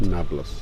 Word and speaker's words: Nablus: But Arabs don't know how to pronounce the letter P. That's not in their alphabet. Nablus. So Naples became Nablus.